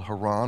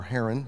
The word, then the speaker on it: Haran: Kindred up into a land called Haron or Heron however you've heard it pronounced and so Abraham traveled up the Fertile Crescent and he settled in haran which is up somewhere